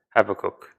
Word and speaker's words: Habakkuk: attributes is the problems have a cook that's how it's pronounced yeah but uh Sheamus